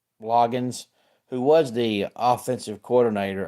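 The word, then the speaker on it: Loggains: ref Brandon and then his last name to me should be either Logan's or low gains hey there Rob glad to have you here because it has a a in it but they say it's pronounced loggin so I'll go with loggin anyway he was the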